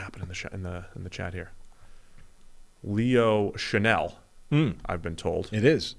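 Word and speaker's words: Chenal: Leo Chanel, I've been told. It is. Is the pronunciation.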